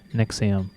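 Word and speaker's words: NXIVM: Yeah, Nexium. Like the heartburn medication? Yes, but it's spelled the Roman way with V's instead of U's.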